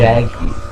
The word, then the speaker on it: Jacqui: Jacquia, I don't know how to It's pronounce it. Jackie. Okay, Jackie, but it's spelled Jucqui.